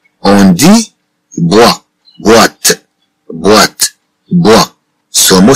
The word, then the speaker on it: boîte: Bien sûr, avec le mot boîte, on entend le son wa. On dit bois, boîte, boîte, bois.